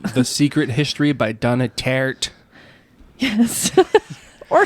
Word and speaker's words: Tartt: And that was The Secret History by Donna Tartt. Yes. Or tart. Nope, it's there's two T's, so it's pronounced tart.